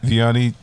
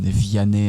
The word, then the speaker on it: Vianney: Tick Tock it's um Vianney and Rob um should I spell that yeah yes v-i-a-n-n-e-y and Rob but is it and like the little apostrophe my name is French not Spanish um and